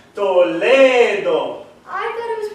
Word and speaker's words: Toledo: You see, Castilian Spanish you pronounce different than English.